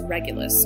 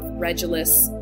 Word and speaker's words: Regulus: much about and that's regulus or regulus some people pronounce it differently but regulus is a